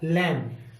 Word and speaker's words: lamb: तो इन सिचुएशन में क्या करते हैं, हम बी को साइलेंट रखते हैं। तो हम किसकी ध्वनि निकालेंगे, L, A और M की, क्योंकि ये तो हमने साइलेंट कर दिया, हम इसको नहीं बोलेंगे। तो हमें बोलना क्या है, LAM। तो लैम।